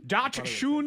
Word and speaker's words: dachshund: Dachshunds. Oh, that sounds like a... Dachshunds. Hello, Lauren. Say it one more time. Dachshund. Yeah. So DockSUND. That's how you could spell it.